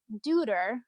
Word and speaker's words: Deuter: So it's called the artist is called Deuter. I think that's how you pronounce it.